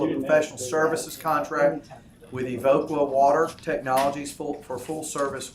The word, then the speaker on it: Evoqua: Evoqua.